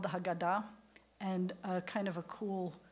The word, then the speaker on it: Haggadah: for the Seder is called Hagaddah which is a nice Ashkenazi pronunciation I like how you did how God a means the telling and I learned something today about why it's called the Haggadah and kind of a